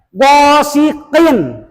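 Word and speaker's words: غاسق: Jangan gosik atuh. Gosiqin.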